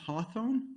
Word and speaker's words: Hawthorn: because, so how do you pronounce the place where you live? Hawthorne?